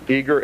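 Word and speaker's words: Eagar: Eager, Arizona. Eager is spelled E A G A R, Arizona 85925.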